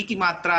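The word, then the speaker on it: किम्: इसका उच्चारण हम माँ में करेंगे, तो यहाँ पे क्या हो जाएगा?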